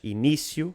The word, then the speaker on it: início: Se a sílaba tónica for a penúltima, não há acento. Por exemplo, a palavra inicio. Eu inicio. Mas início leva o acento no i.